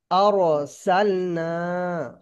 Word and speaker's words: أرسلنا: আচ্ছা, তারপরটা দেখেন আরসালনা। أرسلنا আরসালনা। এটা যেহেতু র পুরের কায়দা চলছে, তো সেই হিসেবে রটাকে আমাদের মুখটা গোল করে রটা উচ্চারণ করতে হবে, বুঝলেন?